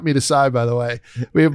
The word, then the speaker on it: meatus: But the one that they want, and some people I think pronounce it meatus, so we'll go in the middle with it.